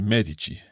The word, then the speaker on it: medici: Medico that would be Medici Medici because the emphasis is on the first syllable on the symbol on the syllable me so Medico Medici I'm